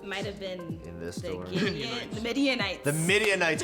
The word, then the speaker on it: Midianites: correct might have been midianites the midianites correct it's a tough one because it rhymes with Israelites the midianites is the correct answer question number two we're